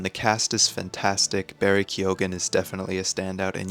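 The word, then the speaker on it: Keoghan: yeah it's fun the cast is fantastic Barry kogan is definitely a standout and yes for people questioning it's kogen that's how he pronounces it I double checked that so Barry kyogen is fantastic Jacob eraldi I think is how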